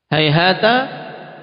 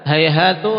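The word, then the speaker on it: هيهات: Hayhata ini ada 6 lugah, 6 cara baca. Hayhata, hayhatu, hayhati, dengan apa? Fathah, dhammah, kasrah. Kemudian dengan ditanwin juga 3 jenis tanwin, hayhatan, hayhatun, hayhatin.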